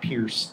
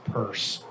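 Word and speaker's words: Peirce: pronunciation of her name it's not pierce it's purse so everybody knows crypto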